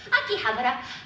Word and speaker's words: Akihabara: Anyway, Akihabara.